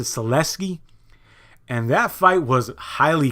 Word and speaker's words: Sulecki: Jacobs versus message or Max's Seleka HBO pronounced to Celestia and that fight was